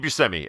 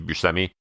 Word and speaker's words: Buscemi: the career of Steve Buscemi. Steve Buscemi. I suddenly forgot how to say his name. But, I think it's a shimmy, like a light dance. Steve Buscemi.